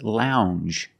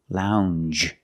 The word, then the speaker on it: lounge: word is lounge Lounge it makes the regular n n plus the J Lounge it follows the same pattern as orange and change it's a regular n plus the soft J sound Lounge a lounge is